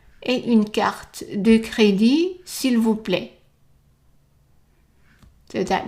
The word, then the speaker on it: crédit: et une carte de crédit. And again, the T is silent.